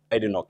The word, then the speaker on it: Badenoch: I can't pronounce her last Badenoch. name. Badenoch.